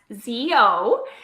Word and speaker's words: ZO: best on the market why is that yes Zeo is how the brand is pronounced and everybody calls it so stands for